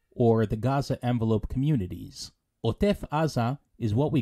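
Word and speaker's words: עזה: meaning the Gaza Strip please notice that in Hebrew we pronounce it AA as opposed to the English Gaza and the Arabic at the moment theages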